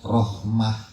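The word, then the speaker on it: رحمة: Nah, saya menulisnya terbuka karena biasanya yang marbuto kalau dia berada di ujung dibacanya menjadi ah. Ya, misalnya rahmah ee nikmah itu taknya marbutah.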